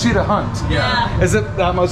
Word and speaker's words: Cheetah Hunt: okay so i like i said it wrong a little bit ago i was like cheetah run but it's cheat a hunt yeah is it that